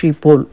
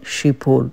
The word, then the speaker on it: Schiphol: SCHIPHOL இது வந்து ஷிப்போல் அப்படின்னு சொல்கிறாங்க. ஷிப்போல் அது கூட கரெக்டானு தெரியல. ஆனால் மோரலஸ் இந்த ப்ரொனவுன்சியேஷனுக்கு மேட்ச் பண்ணியிருக்கேன். ஸோ இந்த ஏர்போர்ட்டோடைய பேர் வந்து ஷிப்போல்.